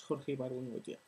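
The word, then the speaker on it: Jorge Ibargüengoitia: I have no idea how to pronounce his name in English, so I'm just going to say it as I know it in Spanish. Jorge Bargongoitia.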